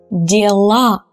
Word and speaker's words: дела: But when we change them into the plural form, the ending becomes stressed and it becomes A. Now it's a strong A. So it's the real sound A. So we pronounce it strongly. Слова, права, дела, места.